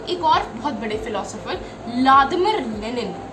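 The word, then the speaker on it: Владимир: इसको एक और बहुत बड़े फिलोसोफर व्लादिमिर लेनिन, व्लादिमिर कहते हैं उनको, वी से स्पेलिंग इनकी स्टार्ट है लेकिन वी साइलेंट है।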